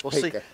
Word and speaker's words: Pika: He's calling him Pika. I went over to the coaches and asked him how to pronounce it. It's Pika.